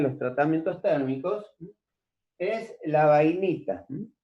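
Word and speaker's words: bainita: tratamientos térmicos, es la vainita. Vainita, tal cual se pronuncia. Con B larga.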